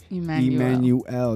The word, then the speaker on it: Emmanuel: a couple more times say it like the way like you read it in the Bible like man you L not Emmanuel okay okay amen and